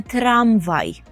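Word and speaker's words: tramwaj: зверніть увагу далі мами трамвай трамвай Як ви почули відмінність між українським і польським словом у наголосі ми наголошуємо трам трамвай тролейбус так і буде тролейбус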